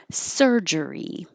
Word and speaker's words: surgery: things i'll go faster surgery sir jury or maybe your tongue doesn't curl back so fast after just surgery sugary now this vowel is